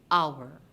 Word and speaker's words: hour: hour if you listen to that our o you start to hear the song made by the letter o you are not hearing that produced by the letter h and therefore h is our silent letter in the word hour like the word no we